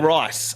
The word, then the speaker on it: Ryce: my middle name actually it's pronounced rice ryc rice so yeah